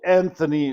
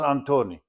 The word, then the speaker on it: Antoni: of his name because he told me his name was Antoni. And the name was not Antoni or Anthony or whatever the case may be. His name was Antoni.